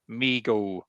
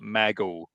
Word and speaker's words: Mego: Why is it pronounced MIGO and not meo?